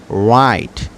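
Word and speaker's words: wrong: উচ্চারিত হবে না যেমন রাইট যেমন রাইট রাইট রং র‍্যাপ রেস্ট তো ডাবল ইউ এর পরে যদি আর থাকে তাহলে আর উচ্চারিত হবে কিন্তু ডাবল ইউ আর উচ্চারণ হবে না নাম্বার ফাইভ নাম্বার ফাইভে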